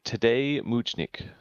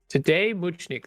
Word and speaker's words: Tadej Močnik: Need some pronunciation help on this one. It's going to be Tadej Močnik. Tadej Močnik.